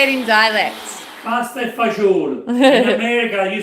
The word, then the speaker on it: pasta e fagioli: Pasta e fagioli. In America you say pasta e fagioli. Pasta fasul.